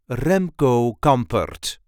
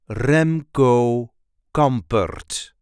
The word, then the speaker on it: Remco Campert: writer, poet and columnist Remco Campert. The correct pronunciation is Remco Campert. Remco Campert. There is a light emphasis on the first syllable of his first and second name.